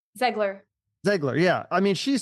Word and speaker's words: Zegler: Ziegler? Zegler.